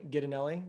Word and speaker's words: Ghidinelli: just my name ganelli so that'll be easier you're gonna have to spell that for the people yeah g h d i n l l i it sounds like the chocolate guy but unfortunately I don't